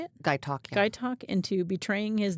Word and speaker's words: Gaitok: Gaitok.